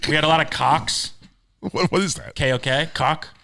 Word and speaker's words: Koch: we had a lot of cocks. What is that? KOK. Cock. Oh, like the Koch brothers? D-cock. No, I guess that's a We pronounce it cock. K-O-C-H.